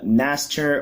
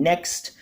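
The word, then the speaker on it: Nächster: Moving forward, you want to run 3 copies of the new one, which is Cyber Dragon Naster, or should I say Cyber Dragon Next. This is pretty much how it's pronounced.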